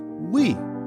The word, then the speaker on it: Wii: its functionality centered around the use of motion controls the technology was Innovative and unique at the time the Wii is pronounced as we which emphasized the console is